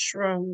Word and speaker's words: SHRM: ask if you can join, I believe it's pronounced shroom, it's SRSHRM. Yep, SHRM. It's that's shroom.